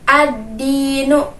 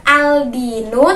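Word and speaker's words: الدِّينُ: Jadi membacanya adalah ad-dinu. Bukan aldinu, tapi ad-dinu. Nah, kalau aldinu berarti itu kita salah membacanya, karena kalau yang lamnya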